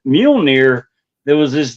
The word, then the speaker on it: Mjolnir: It was more Moo Moo, but I did not know how to pronounce it. So for all those years, instead of saying Mjolnir, it was Moo Moo.